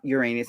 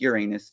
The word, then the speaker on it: Uranus: studying astrology I'm like it's not Uranus, it's Uranus, right? Thinking that that was the more proper way to say it, but it's not. It's Uranus. There's no getting around it. That's how you say it.